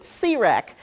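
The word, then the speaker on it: C-RAC: have a group that we colloquially call c-rec used to be called crack and people kind of looked at us real funny so we made sure to put the dash in there and we pronounce it Sirac the Council of regional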